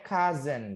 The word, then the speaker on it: cousin: Nah, ini bacanya cousin gitu ya, cousin. Tulisannya sih chosin ya, chosin. Tapi bacanya cousin, cousin.